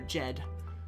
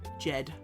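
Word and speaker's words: djed: the the capital D the capital D is actually pronounced uh DJ it's almost has a J so it's that would be J uh Jed Jed.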